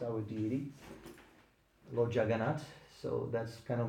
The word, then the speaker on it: Jagannath: Lord, Lord Jagannath. how do you spell that? Sorry. Jann. No, No, sorry. Jagannaath. Thank you. Lord Jagannath. Okay. there's an English word, juggernaut. Juggernaut. Yeah, it's the same.